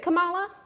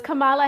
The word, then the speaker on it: Kamala: new vice president come on uh i'm gonna mispronounce her name it's is it kamala okay so it is kamala all right well then i was gonna be